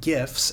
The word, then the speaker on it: GIFs: You absolutely want to avoid using GIFs, and yes, that's the right way to pronounce it, unless you absolutely have to.